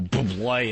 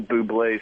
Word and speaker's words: Bublé: That's not his name. You're not saying it right. If you're going to talk about Michael Bublé, you got to talk. You got to say it right. Bublé.